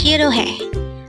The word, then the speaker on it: 싫어해: Shir again it's Shir this pronounce is a three syllable word the first syllable is sh second syllable is O and third syllable is he pronounce it with me